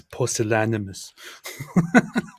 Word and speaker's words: pusillanimous: It's pusillanimous.